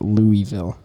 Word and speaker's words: Louisville: Branson we went to Louisville, Kentucky, and then from Louisville, Kentucky. Guys, okay, here's the thing. It is Louisville, Kentucky. That's how it's said.